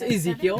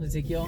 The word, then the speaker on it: Ezekiel: It's Ezekiel, Yeah. so it's just like spelled like the Hispanic version Okay, of okay. like the biblical Ezekiel.